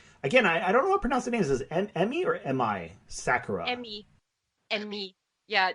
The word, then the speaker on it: Emi: Emi. Yeah, Japanese is all phonetic. I is always pronounced E. E is always pronounced A.